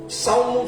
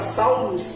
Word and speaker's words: Salmo: Abra comigo sua Bíblia em Salmo 104. A pronúncia certa para Salmos é Salmo.